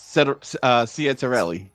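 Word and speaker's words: Ciattarelli: And Jack Cidelli, how do you pronounce it? Uh, Caterelli.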